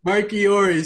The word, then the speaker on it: Marchiori: How do you say it again? Marchiori. Sorry. Dude, the CH in Italian always gets me.